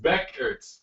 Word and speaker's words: Buchert: Chelsea corrected me saying, Buchert is pronounced Beckert.